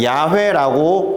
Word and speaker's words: 야훼: is i를 가지고 와서 y 다음에 아 W 다음에 5 hw다 hw 다음에 y를 붙여서 야호y 야훼 이런식으로 발음을 하게 된 거예요 그리고